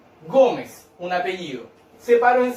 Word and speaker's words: Gómez: Separo en 2 sílabas. ¿Dónde se carga la voz? En go. ¿Cuál sería? Penúltima sílaba, ¿cierto? ¿Y qué me dice las palabras donde yo cargo las penúltimas sílabas? Sería una palabra grave, ¿ya? Y tengo que tildar si cuando termina en cualquier consonante menos en ese vocal. En este caso termina en Z, por lo tanto, sí voy a tildar la palabra Gómez.